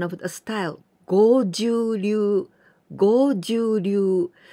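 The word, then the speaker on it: 剛柔流: But please be careful because I heard many people say goju ryu. Goju, it means 50. The number 50, goju. But this kanji, we pronounce with go, the longer sound.Goju-ryu.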